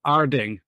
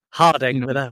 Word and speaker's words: Harding: But now my question is it Harding or is it Arding? Harding, with a H.